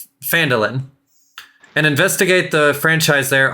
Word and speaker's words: Phandalin: This note gives you the right to travel to, said it wrong, Phandalin, and investigate the franchise there on my behalf.